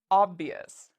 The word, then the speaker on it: obvious: The last word is obvious. So we look at the letter before ious, it's a V. It's not one of our special letters, which means we pronounce it ious.